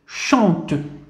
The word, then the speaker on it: chante: ثم سي مع اش دائما هو الصوت ش مع ان. إذا ماذا قلنا ان ماذا نقرأه ان. إذا ش مع ان سنقرأ شان شان. ثم ت مع أ سنقرأ ت chante.